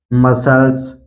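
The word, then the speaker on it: muscles: इसी तरह है डिसिपल, इसी तरह है सीजर्स, इसी तरह है साइंस, मसल्स, सीड, तो इन सभी वर्ड में आप देख सकते हैं यहाँ पर यस के बाद आया है सी, इसलिए सी का उच्चारण नहीं किया गया है, सी साइलेंट है।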